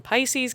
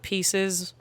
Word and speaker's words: Pisces: 2016, which is when Pisces came along. Not Pieces. I know they're spelled the same, and a lot of people think that no, Pisces.